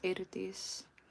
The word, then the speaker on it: Eirdís: It's Eirdís. For those of you that can roll your R's, and if you can't, it's all good. Yeah, so the EI is pronounced A in Icelandic.